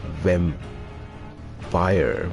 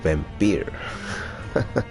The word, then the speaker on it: Vampyr: with the very start so it's vem fire but they say it has vampire maybe i have